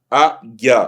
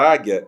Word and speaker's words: águia: Eu não pronuncio U.